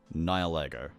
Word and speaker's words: Nihilego: Ultra Beast 01, Nihilego. And if people are saying, "Oh, you're pronouncing it incorrectly," no, you're not. You are. Because that's how you pronounce it.